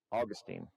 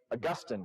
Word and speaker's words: Augustine: was a man named Augustine, right? Augustine of Hippo. Same spelling, different pronunciation. Augustine is the old one. Augustine is the slightly less old one.